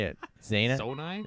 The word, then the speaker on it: Zonai: Zana? Zonai? Zonai. But you too many. It's not enough syllables because Wait, No, you're sorry, right. what's what? Adonai. It's 3 syllables.